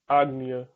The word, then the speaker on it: Ajna: or admia which is spelled a j n a but it's pronounced a g n y a agnia and it means authority